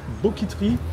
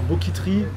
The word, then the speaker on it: BOKIT'RY: Alors, le fast-food s'appelle Boquiterie. Alors, Boquiterie, ça s'écrit Boquit avec R-Y.